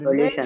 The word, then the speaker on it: solution: solution. Nation. Here you'll find two syllables in this word, nation.